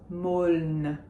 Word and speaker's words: Meaulnes: We do say the L and the N. We do not say the final S. Meaulnes. Le Grand Meaulnes.